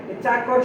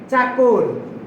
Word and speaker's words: চাকর: চাকর শব্দের প্রমিত উচ্চারণ হবে চাকর। চাকর না চাকর।